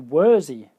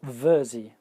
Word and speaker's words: Wersi: a sound processor and it's the worthy voice or virzi voice depend on how it's pronounced in Germany because it's a German company virzi or worthy now this is a